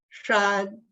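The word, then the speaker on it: 山: jaw so it's shine put together sh is sure sure the tongue is curled up then it's followed by a and when they are blended the sound is shine so why is it that the chinese would curl up the tongue and the tongue the tip of the tongue would go up to the palate because you are talking about something high so it's a first tone do you see that's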